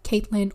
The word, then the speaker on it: Catelyn: Actually, people pronounce it like Caitlin or Catelyn.